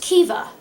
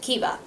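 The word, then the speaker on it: Caoimhe: of the two and this is how it's spelled and it's pronounced kiva to me as a person who does not speak the language that this comes from i would never have guessed that this was pronounced kiva and this is a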